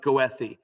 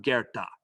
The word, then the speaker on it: Goethe: it should be pronounced goethe it's not it's german and it's pronounced gerta and the play that